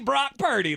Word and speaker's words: Brock Purdy: Francisco at two Jeremy two words one rhymes with rock and roll one rhymes with dirty oh Rock dirty Brock Purdy that's now his name